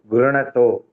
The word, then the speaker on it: गृह्णतो: गृह्णतोऽनुयुगं तनुः गृह्णतोऽनुयुगं तनुः pronouncing गृह्णतो be careful गृह्णतो गृह्णतो ऐसा थोड़ा वहां उधर